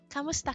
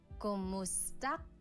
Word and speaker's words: Kumusta: Kamusta ka? Kumusta ka? Kumusta ka? So it's spelled K-U-M, kumusta ka. But sometimes you might hear some people say kamusta ka, like it's a K-A sound.